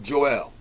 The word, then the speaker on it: Joel: We know that in the Bible, Joel is two syllables, Joel.